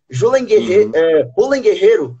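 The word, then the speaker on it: Julen Guerrero: pessoas que não sabem J ren Guerreiro na verdade é a pronúncia correta ele é um ele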